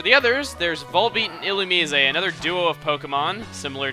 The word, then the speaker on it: Illumise: And as for the pronunciation of Illumise's name, that's how the anime pronounced it. That's why I'm saying it like that, because everyone's like, why aren't you saying it like Illumise?